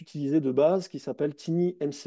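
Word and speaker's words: TinyMCE: Euh vous avez euh un éditeur qui maintenant est utilisé de base qui s'appelle Tini MCE. Alors je le prononce à la française hein, mais euh c'est un un un outil en fait qui est l'éditeur en fait de texte.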